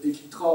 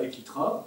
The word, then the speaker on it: Eklitra: Un autre élément important, Equitra en 67, début 67, officialise l'adoption du système orthographique de René Debris.